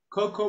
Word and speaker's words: cocoa: good solid thank you camilo yes but the pronunciation is coco cocoa powder and then i yes it's there you